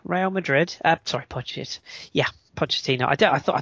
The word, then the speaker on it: Pochettino: loud here Pochettino real madrid apt ipod yeah Pochettino I did I thought I thought it said